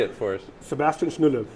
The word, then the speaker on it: Schnuelle: Sebastian Schnuelle. Schnuelle.